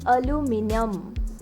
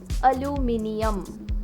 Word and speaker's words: aluminium: Many people say this as aluminium. Aluminium. That can be another mispronunciation, but the correct pronunciation is aluminium. Aluminium. Aluminium. The H is there.